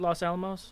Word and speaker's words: Los Alamos: Am I saying it right? Los Alamos?